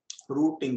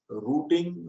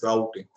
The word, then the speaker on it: routing: that addressing and and rooting they are interl roting rooting o t i n rooting and somewhere you can pronounce routing so both are maybe there so while trying to root